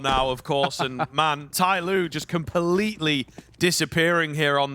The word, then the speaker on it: TYLOO: Tailoo sure they do a lot of their best